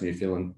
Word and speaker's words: Newfoundland: And if you Google Eric Sprott, Newfoundland, you'll find that, which is actually pronounced Newfoundland, spelt Newfoundland, you'll see that his views on